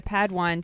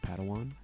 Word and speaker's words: Padawan: Master Yoda assigned a Padawan to this bold Jedi. I believe it's pronounced Padawan.